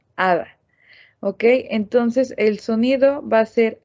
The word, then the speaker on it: 하다: en vez de decir jada nosotros vamos a pronunciar a dar ok entonces el sonido va a ser nada en vez de had a la h se vuelve como muda ahora si en el